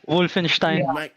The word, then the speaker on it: Wolfenstein: yeah it's it's the it's like the german pronunciation wolfenstein i just want to